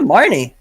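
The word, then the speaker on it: Marnie: gem which is yeah Marne Marne is best girl that's how you say it that name sucks Mary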